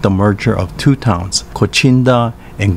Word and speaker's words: Kochinda: in 2006 with the merger of two towns kochinda and gushikami pronounce kuchinda and gushchang respectively in uchinoguchi there you have